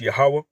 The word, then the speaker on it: Yahweh: When you read Lord in caps there, the word is the so-called tetragrammaton YHWH. That's pronounced Yahweh.